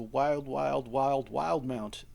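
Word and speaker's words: Wildemount: It's a wild mount. The E is silent.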